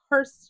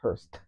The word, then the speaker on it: Hurst: A hearse with a hearse shifter. Hurst shifter. Got to put the accent on the T.